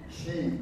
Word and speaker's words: Xi: Xi, X-I, we pronounce, we look at, Xi is his last name.